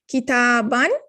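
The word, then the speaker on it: كتابًا: with the noon sound kitaban double fatha so when you say kitab this alif is not pronounced it is just a spelling rule so rabbun and there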